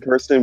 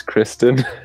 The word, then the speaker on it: Kristen: And Kirsten worked with them last round. Just to correct you, it's Kristen.